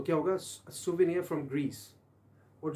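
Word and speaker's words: souvenir: तो वर्ड था हमारे पास क्या, सोवेनियर। दोबारा सुनिए, प्रोनाउंस कीजिए, सोवेनियर, जो आपको याद दहानी कराता है, वो मैन तो हमने बात की थी।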